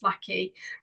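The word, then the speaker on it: Vlahi: It's called Vlaki. It's spelled V-L-A-H-I, but pronounced Vlaki.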